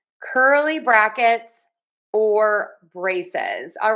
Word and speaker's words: braces: So, two syllables, stressed syllable number one. Braces. Braces. Braces. Braces. Braces. Stress syllable one, brae, and don't forget the Z in syllable number two.